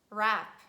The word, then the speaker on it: wrap: And when we have consonant digraph WR, which stands at the beginning of words, we pronounce only R sound and we say right, wrong, wrinkles, wrist, wrap.